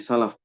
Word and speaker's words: Salaf: diucapkan oleh generasi Salaf ini salah nih keliru nih ya nantia revisi ya generasi Salaf ya bukan salahf Astagfirullah ya generasi Salaf